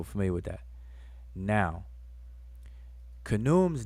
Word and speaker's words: Khnum: The way we say his name is Khnum, but if you look in the glyphs, it's more like Khenmu.